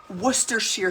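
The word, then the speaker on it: Worcestershire: next after this we're going to add some Worcester Shear sauce and if you have no idea what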